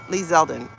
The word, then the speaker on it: Lee Zeldin: Lee Zeldin. Okay, I didn't know that's how you pronounce it.